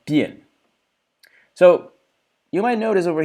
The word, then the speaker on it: 辡: Notice this character is pronounced bien. The big character is pronounced bien.